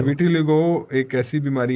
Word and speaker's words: vitiligo: सो इसको सही ढंग से प्रोनाउंस करते हैं विटिलिगो, राइट?